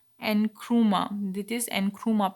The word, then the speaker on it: Nkrumah: So Nkrumah, this is uh, Kwame Nkrumah. Nkrumah, this is Nkrumah pronounced, who was a son of a goldsmith and himself a teacher, was active in the independence.